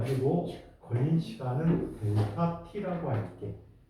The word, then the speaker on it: 델타: 자, 그리고 걸린 시간은 델타 T라고 할게. 읽을 때 앞에 있는 아이를 뭐라고 읽어요? 삼각형. 델타.